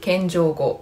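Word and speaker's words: 謙譲語: 종경어는 손깨고, 겸용어는 겐조고. 그런데 이게 원투로 나눠져 있죠. 자, 그 밑에가 정중어, 대내고라고 읽고요.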